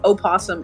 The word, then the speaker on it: opossum: I wish we didn't have to get rid of it, and instead we just pronounce the O, because opossum is so cute.